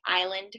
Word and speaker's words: island: spelling irregular words so something like island for instance where you have a silent s and so if an